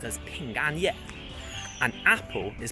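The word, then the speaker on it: 平安夜: eve is pronounced as ping and yet and apple is pronounced as pingo so they sound very similar and chinese they love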